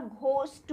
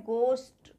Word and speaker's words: ghost: गोस्ट means होता है भूत, भूत प्रेत, लेकिन इसको जनरली लोग बाग घोस्ट बोल देते हैं, जो कि गलत प्रोनाउंस है। ये घोस्ट कभी नहीं बोलते हैं, ये क्या है, गोस्ट, ठीक है। और इसमें H साइलेंट रहता है, इसको हम G बस बोल रहे हैं, GOST, गोस्ट, यहाँ पर भी H साइलेंट है हमारा, ठीक है।